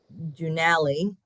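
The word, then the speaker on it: Doonally: but that is where and Dunali it's all in county siggo um but it's a township I guess and I believe it's still there but they spell it D O O N A L L Y.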